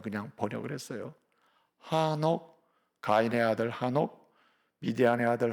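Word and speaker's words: חנוך: 여러분, 이 에녹은 영어식 발음이에요. 한글로 이제 에녹 이렇게 되어 있는데 본래 히브리 원래 이름 발음은 하녹입니다. 하녹. 원래 좀 더 세게 읽으면 하노크 이렇게 됩니다. 하노크. 좀 줄여서 읽으면 하녹 이렇게 됩니다.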